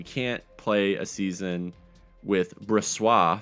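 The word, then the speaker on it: Brossoit: We can't play a season with Bressois. Thank you to the commenter that let me know that is how you say his name, Bressois.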